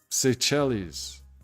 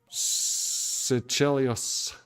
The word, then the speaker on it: Seychelles: Number 7 on the list, Seychelles, I think is how you pronounce that.